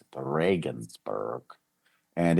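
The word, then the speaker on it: Regensburg: Spelled like Regionsburg, but they pronounce it the Reagansburg.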